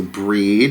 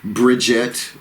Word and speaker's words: Brigid: Brigid, B-R-I-G-I-D in this spelling. There's also Breed and Bridget, you know, as you would spell it.